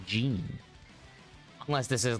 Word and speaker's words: Geene: I always hear gin, but that should be pronounced Geene.